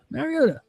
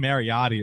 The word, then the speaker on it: Mariota: boom end the story did he say it right this time yeah marota marot man Mariota marota he called him marotti earlier I don't marotti Mariota